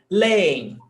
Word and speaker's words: leem: Hiato, we've got two syllables, creem, no accent. Leem, they read, eles leem, leem, hiato, but no accent mark.